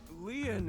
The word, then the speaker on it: Lien: uh destiny is gonna work out my name leon is spelled l-i-e-n in french leon means bond just